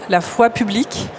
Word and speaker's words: La foi publique: Our motto is La foi publique. I prefer to pronounce it in French rather than in English.